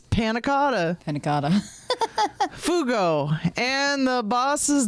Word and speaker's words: panna cotta: they do, but but having a more fancy extension name is more fun to pronounce. Nick George. We'll call him that. Nick George. School dropout. Panna cotta. It's panna cotta.